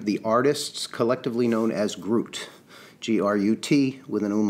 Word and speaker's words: Grüt: with the band the artists collectively known as Groot GRU tea with a known lot pronounced it right these cats are from Atlanta